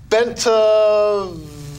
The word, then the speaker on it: Bentivegna: Dan Debicella, John Shabin, Carl Higbe, Joe Bentivegna. Come on, you can do it. Bentivegna. Rhymes with Pennsylvania.